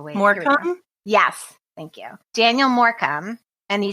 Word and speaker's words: Morcombe: short vowel not like morom so what does that mean then so I think it's saying more calm more the last O is a short vowel maybe okay disappeared from